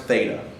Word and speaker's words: theta: looks like this and we say it's pronounced theta and so since there's no